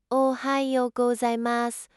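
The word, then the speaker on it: おはようございます: Pronounce it ohayou gozaimasu with a slight pause between the two parts.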